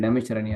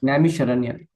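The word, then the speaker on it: Naimisharanya: How do you say that? Sorry. Namisharanya.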